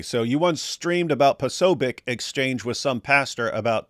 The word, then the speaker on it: Posobiec: Ari here said, David, you and AP once streamed about Do you know how that name is pronounced? Posobiec? They said Posobiec at the event.